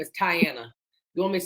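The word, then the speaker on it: Tiana: My first name is Tyiana. You want me to spell it for you? My name is T I A N A. My name is Tyanna.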